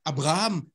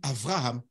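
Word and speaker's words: אברהם: Les Hébreux ne disent pas Abraham, ils disent Avraham. D'accord. Le B, ils le prononcent V à certains moments.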